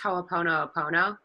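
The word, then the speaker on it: hoʻoponopono: has anybody heard of that that it's actually pronounced howl Epona pono it's a hawaiian prayer know so if you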